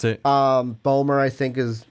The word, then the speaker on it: Bomer: pronounce it? Bomer, I think is how you said it correctly.